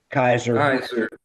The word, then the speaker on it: Keyser: Keyser, how do you say it? Kaiser. Kaiser.